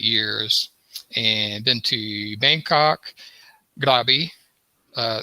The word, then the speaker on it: Krabi: to bangkok grabby uh that that's the way i was told to pronounce it with kind of like a g let me get let me get note on the phone from floor i know okay okay or i think a lot of english speakers pronounce like krabi k-r-a-b-i i don't know why